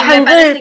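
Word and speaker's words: hangeul: Hangul, por ejemplo, se escribe Han y después G-E-U-L. O sea, la U, la romanización es la E y la U. Entonces, cuando ves que es E-U, vos decís U, o sea, ya sabes cómo se pronuncia eso.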